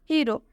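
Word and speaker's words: hero: example देखते हैं हीरो हीरो में आप देख सकते हैं जो हीरो शब्द है इसके अंत में हीरो वर्ड के अंत में इसके लास्ट में ओ आ रहा है इसलिए इस ओ का उच्चारण ओ से होगा जैसा कि अभी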